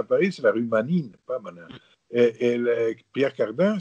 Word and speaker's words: Manin: C'est un nom typique de la Vénétie, comme Manine. On appelle Manin en France, mais c'est Manine.